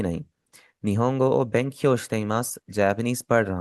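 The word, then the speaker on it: 日本: Japan को हम निहोन भी कहते हैं। हम उसे निपोन भी कहते हैं। निपोन आपका काफी पुराना हो गया। निपोन आपका अब रियल लाइफ में इतना ज्यादा इस्तेमाल नहीं होता। बहुत रेयर कॉन्टेक्स्ट में आप इसे इस्तेमाल होता देखेंगे। मोस्टली उसे निहोन ही कहा जाता है।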